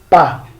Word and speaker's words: pas: So, peut, ne peut pas. We don't pronounce this S. Pas.